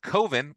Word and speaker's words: Coven: All Hallows Eve album pronounced uh coven with the long o and the mark IV